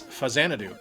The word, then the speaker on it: Faxanadu: I had no idea that this is how it was supposed to be pronounced, and That's Faxanadu.